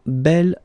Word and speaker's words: bel: Bell form instead of boo okay remember you pronounce it Bell so like the feminine version but then you